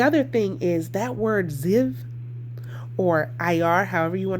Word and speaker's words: Ziv: And so, in the King James Version Bible, it's pronounced Ziv.